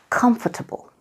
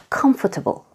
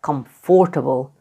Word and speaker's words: comfortable: Number four is comfortable. The stress is on the first syllable, comfortable. Not comfortable and definitely not comfortable.